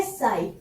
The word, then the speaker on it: psi: ये जो आपको त्रिशूल जैसा साइन दिख रहा है इसका नाम होता है साई। यहाँ पर पी साइलेंट है तो ये है हमारा साई।